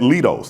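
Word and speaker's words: Leidos: So sitting beside me is Ernest Sanchez, who manages the cargo mission contract at Lidos. Did I pronounce that correctly? Lidos.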